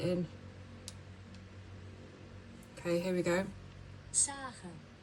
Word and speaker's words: Sägen: Sägen. Sägen.